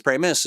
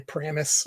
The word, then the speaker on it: Pramas: people understand where famous premise comes from people always mispronounce my last name they say Paramus or any number of things that are wrong uh and so I